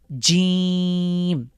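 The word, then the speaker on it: ج: প্রথমে হলো জিম শক্ত করে জিম।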